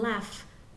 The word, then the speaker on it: laugh: Now notice in laugh, the final letters, the spelling is GH, but the last sound is f, like an F.